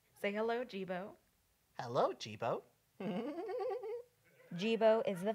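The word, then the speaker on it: D'Jibo: a story dejebo ciao my name is gebo but it's spelled d apostrophe j-i-b-o the d is silent like your little ass should be well tell me a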